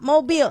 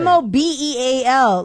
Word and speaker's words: Mobile: It's not mobile. It's not You're not right. Mobeal.